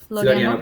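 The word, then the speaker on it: Florianópolis: Florianopolis.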